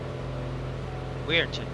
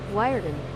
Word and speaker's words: Wiarton: I keep forgetting how to pronounce it though. Weirton. Wiarton. Wiarton. Wiarton here.